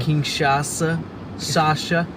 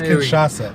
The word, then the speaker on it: Kinshasa: You got to pronunciate. Because I was ready to get like on. King Sasha. King Sasha. I don't know. It's Kinshasa.